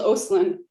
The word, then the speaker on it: Osolen: It's Osolen. No one ever pronounces it right because it's so close to Osolen.